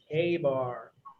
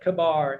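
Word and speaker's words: KA-BAR: Everyone say K-Bar. K-Bar. Exactly, not Kabar. It is K-Bar. So put a Y in there. If you do not know how to pronounce that correctly, just put a Y, K-Bar, right?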